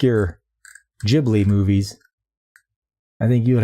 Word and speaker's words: Ghibli: It's pronounced like Ghibli. Ghibli. Yes. Studio Ghibli. Like the old giblets.